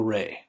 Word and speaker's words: Rei: my daughter, um, Abigail Ray. Abigail, Father's Joy, and we spell it the Gaelic spelling in Rei, Rei. That's Japanese for spirit, and we mean like gumption, like motivation, spirit.